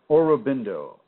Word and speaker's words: Aurobindo: You might want to read Sri, and I believe that's spelled S-R-I, Aurobindo, capital A-U-R-O-B-I-N-D-O, Aurobindo.